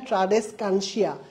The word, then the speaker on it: ট্রাডেসকানসিয়া: বহুমুখী আবর্তন দেখা যায় ট্রাডেসকানসিয়া ট্রাডেসকানসিয়া ঠিক আছে নামটা মনে রাখবা উচ্চারণটা এভাবে করবা ট্রাডেস কানসিয়া ঠিক আছে তাহলে পারবা